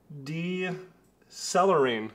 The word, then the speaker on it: Decelerine: Decelerine. Decelerine. It sounds like decelerate, which is exactly what it's supposed to do.